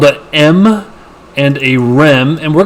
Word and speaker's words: em: root root m again this is pronounced like the letter m even though it's spelt e m and then there's someone